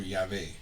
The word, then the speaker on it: Yahvé: Los expertos dicen ahora que el nombre en inglés más bien se pronuncia como Yahweh y en español como Yahvé.